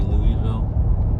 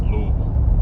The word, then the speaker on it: Louisville: If you're not from here, you'll probably say Louisville. It's Louisville. It's Lou. Just forget half the word. Just take half the word away. Just slur it together. And just and that's how you say it.